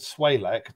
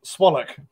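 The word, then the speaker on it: SWALEC: But when I contacted Swalek, the local electricity program, which he pronounces contemptuously to rhyme with bollock, swallock, I can see that.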